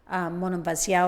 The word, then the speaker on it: Monemvasia: I love, the other side of Peloponneso, Monemvasia or Monemvasia. How do the Greeks pronounce it? I don't even know. I've always said Monemvasia, I think that's it what I is. say, but some people pronounce it differently.